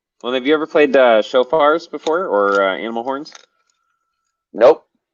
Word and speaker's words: shofar: CHOFAR or SHO? Uh, SHO. yeah, it's SHOFAR usually.